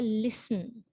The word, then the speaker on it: listen: word like listen right so we do not say listen we say listen right so the t is silent right soften and especially